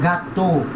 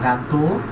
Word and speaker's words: gâteau: Então, é, falando em português, E, A, U, pronuncia O em francês.